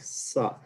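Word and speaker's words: ثاء: Okay, so something like Sa, and you have to get your tongue hitting the tip of your teeth, then it comes out Sa, Sa, Sa.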